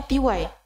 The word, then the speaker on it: Tea Wai: adalah owner ty ya benar bacanya tiw Iya benar tiw t e a w a i t e a w